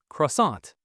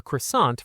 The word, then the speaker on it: croissant: The word for croissant is well, it's croissant, but Claire is going to say it with that beautiful French nasal sound. Listen for the N that isn't really an N.